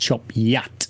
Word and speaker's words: Chop Gate: and eventually come to it's spelled chop gate but it's pronounced chop yet no once you get